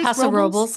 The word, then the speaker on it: Paso Robles: blast, went up to, I won't say it right, but Paso Robles? Paso Robles.